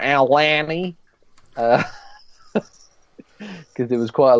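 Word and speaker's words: Aulani: cast members were saying alanny and a lot of the actual Hawaiians were saying ulani so I don't know I don't know um and the Australians like Alani because there was quite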